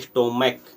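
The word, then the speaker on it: stomach: सी एच जैसे क होता है जैसे स्टोमक एस टी ओ एन एस सी स्टोमक सी एच है वहां च ना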